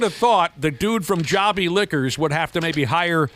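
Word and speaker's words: Jobi Liquors: It's pronounced Jobbie Liquors.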